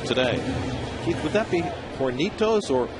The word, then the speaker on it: Hornitos: Keith, would that be Hornitos or Hornitos? H is silent in Espanol. Hornitos.